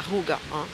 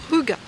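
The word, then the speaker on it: hygge: du rou du Danemark qui d'ailleurs ça ne se prononce pas rou mes amis allemands ils n'ont pas compris quand j'ai dit ruga c'est ruga voilà je crois que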